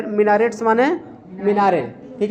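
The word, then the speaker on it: minarets: marble चार marble की मिनारे हैं मिनारेट्स माने मिनारे ठीक है मिनारेट म मिनारे टी साइलेंट है मनारे हिंदी मेंगे मनारे ठीक है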